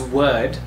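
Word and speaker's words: wyrd: Now, this is referred to as word, of course, but it is spelled as W-Y-R-D, and it is the fate.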